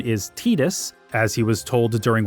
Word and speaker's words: Tidus: According to James Arnold Taylor, the reason the official English pronunciation is Tetus, as he was told during one of his